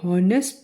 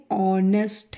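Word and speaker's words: honest: इज एन ऑनेस्ट मैन ऑनेस्ट का उच्चारण हमें मालूम होना चाहिए कि यह नेस्ट नहीं है ऑनेस्ट है मुंह से स्वर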